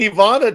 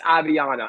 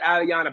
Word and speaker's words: Aviana: This whole time we've been saying Ivana Thomas. For 3 years. And then finally she came up to me and says, I just want to let you know you've been calling my name wrong. It's Aviana.